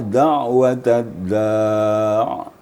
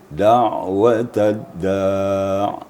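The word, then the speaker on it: دعوة الداع: Kemudian cara membacanya da'watad da'. Jangan terlalu panjang ainnya dan juga jangan terlalu pendek ain yang apabila sukun seperti da'watad da' gitu.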